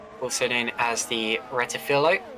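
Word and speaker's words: Rettifilo: Turns 1 and 2, also known as the Retifilo, which a lot of people pronounce as Retifilio, but I don't see where the other I is.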